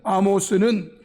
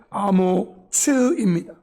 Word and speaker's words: 아모츠: 여기 나오는 아모스는 좀 더 분명한 발음으로 하면 아모츠입니다. 이사야의 아버지는 아모츠이고 여러분들이 보는 소선지서에 있는 아모스는 아모스입니다. 발음이 달라요.